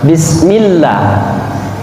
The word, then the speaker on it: bismillah: Sin adalah huruf senyum jadi ketika mengucapkan huruf Sin maka bibir Harus ke Tarik kesamping bis-bis ini yang disebut dengan huruf senyum jadi Allah dampak kita sadari mengajarkan kita tersenyum ketika kita membaca al-quran bis bis bis kalau ada yang baca by bisa berarti mutlak adalah salah karena merubah urusin menjadi huruf Syah tuh kesalahan fatal bis kemudian selanjutnya bismillah setelah